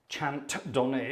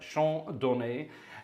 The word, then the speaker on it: Chant Donné: Some of you know it as Chant Donné, Chant Donné, if you want to pronounce it in a terrible French, but Chant Donné.